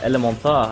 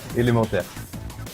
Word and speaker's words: Elementaires: uh yeah that that match goes to uh elemont and of how do you say it again dang it I keep messing it up ilim mon there we goon so he wins by about